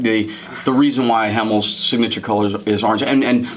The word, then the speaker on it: Hemel: house of orange you know comes from Netherlands Hamill is actually a Dutch word meaning Hamill it's pronounced Hamill it means the sky which was